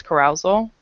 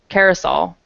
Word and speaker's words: carousel: the luggage cor carousal I'm sorry that that word I'm probably not even 100% sure how to say it but I think it's carousal Carousel oh my gosh do you do you know how to say that Carousel like yeah it gota be Carousel like okay playground I